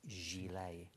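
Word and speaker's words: gilet: put me out in misery said it's not pronounced gillet it's pronounced Gile the thing is I think it's to the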